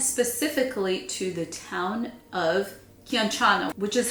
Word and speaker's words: Chianciano: to the town of Chianciano, which is how I think you pronounce it. I know it's a K in the beginning.